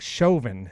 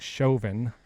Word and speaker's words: Chauvin: news in the world today derek uh derek chauvin is that how you pronounce it derek chauvin i believe that's how you say it i